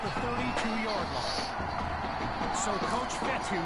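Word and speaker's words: Fetu: be spotted at the 32-yard line so coach fetthy spelled f-e-t-u for the longest time i was pronouncing it coach jetta like fedex so let's just say i'm thankful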